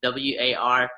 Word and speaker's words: War'Hous: warehouse on there, and the way warehouse is spelled and pronounced is WAR''HOUS. We're like, well, that looks cool. Why don't we just use that? So it's basically how you spell it in a dictionary or pronounce it in a dictionary.